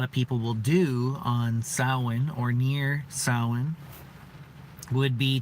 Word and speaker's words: Samhain: a party Eleanor says happy sad soin I almost said it the way it's spelled because I'm reading it been raining a lot